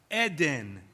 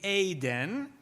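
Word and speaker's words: עדן: Israelis would say that Eden. It's two vowels the same. But a proper biblical pronunciation of that word would be Aden.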